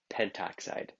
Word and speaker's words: pentoxide: And O5, so pentaoxide or pentoxide. Notice when the two vowels were to make like AO, like pentaoxide or monoxide, the first vowel is dropped just for pronouncing.